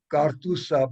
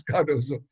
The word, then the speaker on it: Cardozo: looking for the karthusa they called me kartusa because they couldn't pronounce cardozo so they were looking for